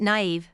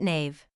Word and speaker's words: naive: Games ask the question Holly you're quite naive Leon aren't you pronounces it Nave probably never said it out loud before just read it